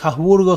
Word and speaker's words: Habsburgo: Hace unos años yo estudiaba alemán, pero la H en alemán no es muda. Haushofer, Kreishofer. No tiene sentido eso. Los que dicen que Habsburgo se dice con la H muda, lo he escuchado, son muchos puristas de la lengua castellana.